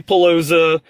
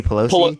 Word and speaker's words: Pelosi: years I said both and should with Nancy palosa and the speaker of the house I can't remember her name you mean Nancy Pelos I mean I'm sorry again I just told